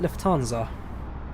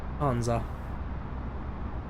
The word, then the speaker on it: Lufthansa: No, I don't think you really pronounce the H. I'd be wrong though. Let's see what Google has to say. Lufthansa. Lufthansa. Lufthansa. Lufthansa. Yeah, Lufthansa. Lufthansa. Lufthansa. Lufthansa. The H, you don't push the H.